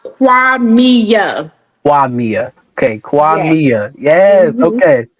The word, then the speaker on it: Qimmah: this right yes so the name is actually pronounced quami Quia okay Quia yes